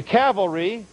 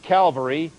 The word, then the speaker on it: cavalry: he surprised them all the cavalry not calvary people mispronounce it on the air all the time the cavalry we used